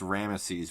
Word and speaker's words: Ramses: Ramses the second in this movie's pronounced Rama sees which I don't know if I've heard outside of this movie but I that's the proper pronunciation if they did all